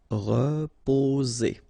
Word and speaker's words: reposer: Reposer, re, so first letter here, re, so first vowel, sorry, reposer, reposer. So here, vowel and vowel, only one S, it's Z, reposer. Danser.